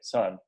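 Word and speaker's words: Söhne: type called son s it's like a german pronunciation s o h thank you son and um and it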